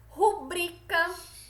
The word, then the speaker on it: rubricas: pudico recorde não é recorde é recorde certo as rubricas intestil certo são palavras paroxítonas certo se eu vi